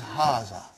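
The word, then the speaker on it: هذا: explained in the key also so it is haza okay means this and means a house are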